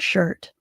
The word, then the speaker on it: shirt: You don't hear the I sound. But you do write the letter I when you spell the word shirt.